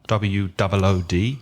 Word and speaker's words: wood: And the same pronunciation as WOULD, the modal verb would, exactly the same, wood.